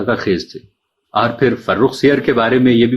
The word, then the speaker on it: فرخ سیر: تو قابل غور بات یہ ہے کہ فرخ سیر کا درست تلفظ نہ کیا جائے تو مصرع بحر سے خارج ہو جائے گا، اور زر اور مٹر کا قافیہ لفظ سیر نہیں ہو سکتا، سیر ہو سکتا ہے.